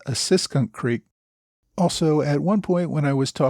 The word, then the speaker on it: Assunpink Creek: It's brought to my attention that last week I referred to Assunpink Creek. The correct pronunciation, I am told, is Assunpink Creek.